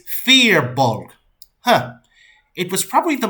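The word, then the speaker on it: Firbolg: the guy was sitting next to goes it's fear bulk huh it was probably the most aggressive correction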